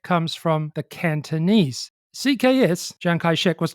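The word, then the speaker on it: Chiang Kai-shek: He started to use the name Jang Kai-shek as a pen name for articles that he wrote. But his name had two pronunciations.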